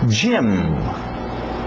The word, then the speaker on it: gym: Gym, gym, gym. Parece o nome Jaime, gym também, mas vem de gymnasium, ginásio, comprido.